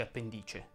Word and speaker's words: appendice: dice appendice o appendice si dice appendice si dice concimare o